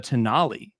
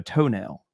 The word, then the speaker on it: Tonale: for instance, Alfa Romeo, they brought the Tonale, right? And when I walked in the dealership and saw that vehicle the first time, I was like, that is the Alfa Romeo Toenail.